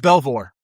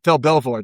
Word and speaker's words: Belvoir: How do you pronounce this base? Is it Belvoir? Uh Fort Belvoir. Belvoir Belvoir. Yeah, that's Belvoir.